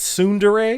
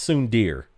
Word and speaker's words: tsundere: for many years okay so it is yandere and it's tsundere because I've heard it pronounced soon dear oh gee please stop